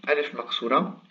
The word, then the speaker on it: alif maqṣūra: Donc, il se prononce A exactement comme la Aleph.